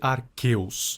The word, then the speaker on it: Arceus: A propósito, eu sei que os nomes se pronunciam guiratina e Arqueus, mas eu não tô nem aí.